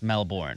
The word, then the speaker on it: Melbourne: It's Melbourne. It's got an R in it.